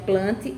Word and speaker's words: Plantae: Temos aí a ilustração de uma planta e abaixo tem o nome plantae, mas na verdade se pronuncia plante, embora se escreva plantae.